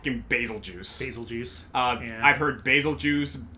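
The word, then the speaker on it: Betelgeuse: like the sound of basil juice. Um, yeah. I say Basil Juice because like for me personally, the reason is because it sounds like Beetlejuice, which is what Basil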